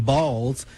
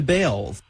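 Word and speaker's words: Baals: After all, the family did change the pronunciation of their last name from Balls to Bales.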